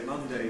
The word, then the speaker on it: Monday: We can either keep it strong and say Monday, Tuesday, Wednesday, or we can weaken it, giving Monday, Tuesday, Wednesday. And for many speakers, both pronunciations are available.